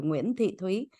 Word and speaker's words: Nguyen Thị Thuy: So I will pronounce my name in Vietnamese too, Nguyen Thị Thuy.